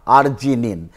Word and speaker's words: arginine: So lysine is K and then arginine, pronunciation is like R, arginine.